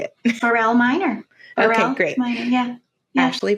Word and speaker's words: Borell Miner: Borell Miner.